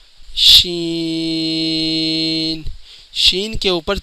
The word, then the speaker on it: ش: آواز نکلے گی، سین۔ شین، شین کے اوپر 3 نقطے ہوتے ہیں جس کا تلفظ یہی ہے کہ اس کے بھی اینڈ میں نون کی آواز نکلے گی۔ آگے بڑھتے ہیں۔ صاد۔